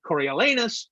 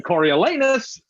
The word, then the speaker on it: Coriolanus: The best part of Coriolanus is getting to say Coriolanus because the last two syllables are naughty. And it delights me and tickles me no end to think of parents across the world going Coriolanus.